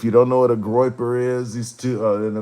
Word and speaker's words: Goyper: Goyper. If you don't know what a Goyper is, these two in the MAGA, they're two right, quote unquote, right wing groups.